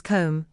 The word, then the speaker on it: comb: The letter B is silent at the end of words such as comb, dumb, numb, tomb, climb, womb, and lamb. It is also silent in words such as doubt, subtle, debt, and debtor.